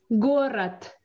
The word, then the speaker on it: город: Город. Город. Ага. Я пишу город, но говорю т.